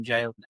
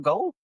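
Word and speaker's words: gaol: is is this kilanum go? just gently correct them is actually it's pronounced jail. So yeah, it's the old way of spelling jail. So it's pronounced the same as J A I L.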